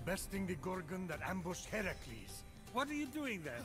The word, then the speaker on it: Heracles: So, Phoenix, after boldly besting the Gorgon that ambushed Heracles... What are you doing there? That thing with your voice? Heracles?